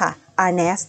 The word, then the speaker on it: Arneis: แค่ นั้น เลย ค่ะ อัน นี้ สะกด ว่า AR n e i s ค่ะ อานัส นะ คะ เป็น องุ่น เขียว นั่น